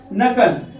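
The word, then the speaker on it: knuckle: पहले कहा गया कि इसलिए उदय गए हैं साइलेंट हो जाएगा नकल नकल मींस क्या होता है जो दो है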